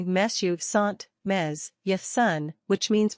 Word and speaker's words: mes: means my eyes are note that in this case you pronounce the S at the end of me because the next word begins with a vowel four describe your overall